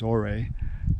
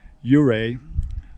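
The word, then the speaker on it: Ouray: go north out of euray which is pronounced i thought it was already uh i guess he was an indian chief's name yuray um i went about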